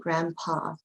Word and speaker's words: grandpa: Remember, we don't say that D, grandpa, but it is spelled grandpa, grandpa.